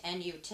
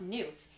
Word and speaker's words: Nut: of the god newt n-u-t it's like nut but it's pronounced newt and they have um